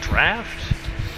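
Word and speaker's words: draught: people down draft really it's pronounced draft like the one that's felt like drought almost wow dude that is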